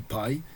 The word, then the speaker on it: pi: En anglais, ça se dit pi.